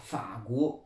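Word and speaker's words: 法国: Mais si on dit je suis français, on va plutôt dire, ou la France, on va dire Faguo.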